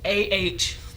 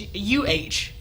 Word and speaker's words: Adele: So, most people normally pronounce it as Adele, which is AHDEL. I mean, DLL. Mm-hmm. But the real pronunciation is UHDALE. Adele. Like Chip and Dale.